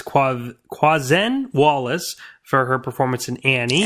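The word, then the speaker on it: Quvenzhané Wallis: We have, I thought I knew how to pronounce her name until recently. But I believe it's Quazen Wallace for her performance in Annie.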